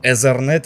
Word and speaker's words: Ethernet: И, кстати, пожалуйста, перестаньте называть этот порт словом Ethernet или Ethernet. Это Ethernet-порт, не Ethernet. Учитесь произносить слова правильно.